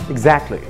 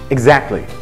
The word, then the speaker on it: exactly: كلمه زي كلمه exact، exact هتحط لها ال واي، قولها بسرعه بس بسرعه exactly exactly. التي مش باينه خالص.